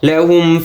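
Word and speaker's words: لهم: ওয়া লাম জবর লা লাহুম ফিহা ফাকিহাতু ওয়ালা ওয়ালা হাম পেশ হুম এখানে দেখতে পাচ্ছেন আপনারা সবাই পরপর দুটি মিম আসছে তো প্রথম যে মিমটি ওটার উচ্চারণ হবে না দ্বিতীয় মিমের উচ্চারণ হবে লাহুম লাম জবর লাহা মিম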